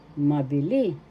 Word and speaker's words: mabili: third syllable le mili mabili the accent is in the third syllable that's how you pronounce